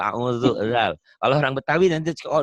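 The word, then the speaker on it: أعوذ: Sebagian orang Betawi yang belum benar bacanya auju, coba dengerin. Coba ya. Kalau orang Sunda audu. Termasuk saya dulu audubillah ya. Padahal auzu.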